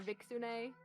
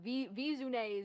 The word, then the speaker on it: Viixune: is a nine-tailed fox so i kind of put the two together for viksune and so that's kind of